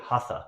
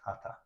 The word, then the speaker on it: Hatha: Well, we hear Hatha, but it's pronounced Hatha.